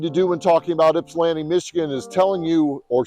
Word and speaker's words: Ypsilanti: do when talking about Ypsilanti Michigan is telling you or showing you how to pronounce it just take that why and make it an eye and it's Ypsilanti so that's the first